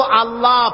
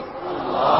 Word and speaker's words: আল্লাহ: আলোচনা করবো আল্লাহ পাকের পরিচয়। আল্লাহপাক তিনি কে? আমরা বলি আল্লাহ। আমরা কি বলি? আল্লাহ।